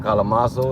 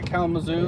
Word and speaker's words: Kalamazoo: Or either to Lansing, or what do they call it, Kalamazoo, if I'm saying it right? Yeah, Kalamazoo.